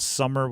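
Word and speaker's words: SumerSports: I think it was Sumer Sports, but it's spelled Summer with just one M, so you think it's Sumer. There was something there where as they walked up, somebody was in my ear going like, it's Summer, Summer, Summer.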